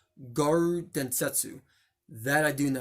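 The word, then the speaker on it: 餓狼伝説: few special in English in Japanese it's actually pronounced guard Densetsu that I do know how to speak Japanese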